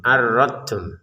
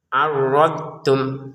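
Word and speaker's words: عرضتم: arrodum jangan jangan sampai dimasukkan ke ta menjadi arradum arradtum. Nah, yang benar adalah arrod. Kita mengucapkan dnya ini arrod. Kemudian tum arrodum. Nah, gitu.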